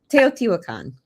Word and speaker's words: Teotihuacan: How do you pronounce that? It's Teotihuacan.